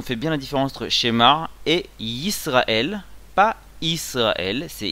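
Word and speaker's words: שמע: Donc on dit shemar, on prononce bien le aïn, parce que si on dit schéma, ça va rien redire aussi. Au mieux ça veut rien dire, au pire ça veut dire autre chose. Donc shemar.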